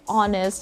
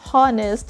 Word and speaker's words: honest: already just like the letter h in the word honest it's not honest it's honest what i'm talking about here